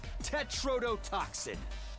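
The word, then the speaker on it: tetrodotoxin: I'm talking about TTX, tetrototoxin.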